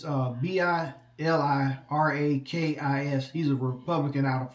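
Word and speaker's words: Bilirakis: For that name that I couldn't pronounce, it's Bilikrakis.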